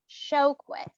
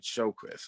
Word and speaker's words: Sjoquist: So could you tell me the correct pronunciation of your last name? Yes, it's Sjoquist. Sjoquist. Okay. All right. Okay, Sjoquist.